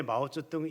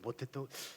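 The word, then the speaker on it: 毛澤東: 그래서 옛날에 마우저등 이거는 우리가 중국 발음으로 해서 그렇지 옛날에 우리는 소리 나는 데는 뭐라고 했어요? 모택동이라 그랬어요. 그래서 모태동 제가 가만히 보니까 이름이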